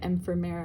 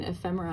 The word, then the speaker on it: ephemera: about the pronunciation of I was calling it empera and he's like I'm pretty sure you mean ephemera and I was like